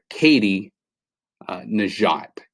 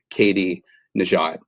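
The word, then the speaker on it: Katie Nageotte: It's Katie Najat.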